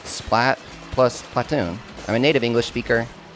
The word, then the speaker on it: Splatoon: And that's totally fine, but Japanese does not leave anything up for pronounce for for for for debate. And it's supatun with an a, an ah. It's splaton, splatoon, or splatoon.